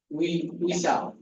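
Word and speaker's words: 의사: পারবেন হ্যাঁ উচ্চারণ করেন উইসা উইসা এটা উ আর এটা ই উইসা উইসা মানে ডাক্তার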